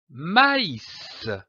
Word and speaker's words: maïs: cet accent très m'as indique que la voyelle qui précède doit être prononcée séparément comme par exemple du maïs ma y voyons dans